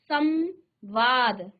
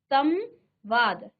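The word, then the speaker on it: संवाद: धनवाद हमने क्या कहा यदि म के बाद हलंत के साथ इसके बाद आपका व आए व आया है तो यह जो म है ना यह अनुस्वार हो जाएगा और उच्चारण कैसे होगा समवाद समवाद ठीक है इस प्रकार समधन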